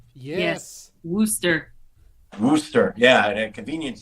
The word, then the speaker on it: Worcester: Also, did anyone else notice that George Wendt mispronounced Worcester? Yes. Worcester.